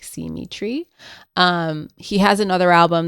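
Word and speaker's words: Simitree: band Symmetry, which is spelled S I M I T R E E. So, like, see Tree.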